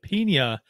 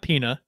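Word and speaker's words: piña: the pina colada right that's the pina not peanut pina sorry there's a tilde on the end jeff there is say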